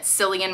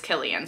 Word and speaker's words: Cillian: And I have made the mistake of pronouncing it Cillian Murphy because he spells it with a C, but I am pretty sure it is Cillian. So if I am wrong and it's Cillian, please let me know, but I'm pretty